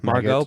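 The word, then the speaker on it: Margot: Margo marget Margaret Margo Margo probably the te is silent Robbie I don't know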